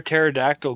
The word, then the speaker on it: pterodactyl: Why can't you hear a pterodactyl going to the bathroom? I know this one, so I'll keep quiet. Yeah. Because the P is silent.